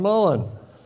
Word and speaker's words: Mullan: His name rhymes with sullen and begins with M. Why, of course, John Mullan.